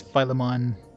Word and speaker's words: Philemon: It's Philemon. Like a Pokemon?